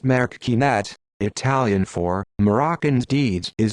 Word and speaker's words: Marocchinate: Marocchinate, pronounced Marocchinate, Italian for Moroccan's deeds, is a term applied